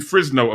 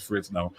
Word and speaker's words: Fresno: out into that area we've mentioned frisno a few different times or fresh notice the correct pronunciation of it my pastor says fritz no anyway we've got people from fresno uh sacramento we're starting